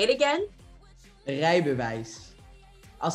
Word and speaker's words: Rijbewijs: Rubus? Rijbewijs. Okay. See, I'm pronouncing it like it should be in English. Okay. Say it again. Rijbewijs.